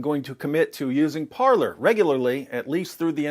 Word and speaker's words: Parler: That could possibly change with Parler, because Parler is gaining a bunch of media attention and a ton of new momentum.